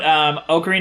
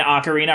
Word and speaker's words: Ocarina: By the way, side note, Ocarina and Ocarina are technically both acceptable pronunciations, but I prefer Ocarina since it ties back to the original not Latin, Italian root word for that name.